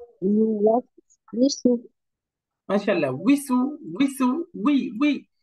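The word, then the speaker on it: يُوَسْوِسُ: এরপরে ওয়াও এর নিচে কাসরা, উচ্চারণ হবে উই, উই, উই, ইউওয়াস উইসু, ইউওয়াস উইসু। বলেন তো ইউওয়াসউিসু। মাশাআল্লাহ, উইসু, উইসু, উই, উই, ইউওয়াস উইসু, ইউওয়াস উইসু। ইউওয়াসউিসু।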